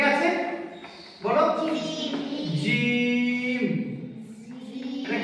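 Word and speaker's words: جيم: জিমের ক্ষেত্রে তিন আলিফ পরিমাণ টান হবে। কত রকম? তিন আলিফ। কত রকম? তিন আলিফ। তাহলে কেমন উচ্চারণ হবে? জিম। বলো জিম।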